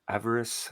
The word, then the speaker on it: Avarice: so we're about to experience Avarice. How do you pronounce it?